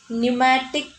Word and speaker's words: pneumatic: That kind of bones are known as pneumatic bones. Okay, pneumatic bones. What are they? Pneumatic. P is silent.